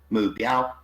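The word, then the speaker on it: 目标: Well, the word in Chinese is mu biao. So it's got 3 syllables, mu, bi, ao.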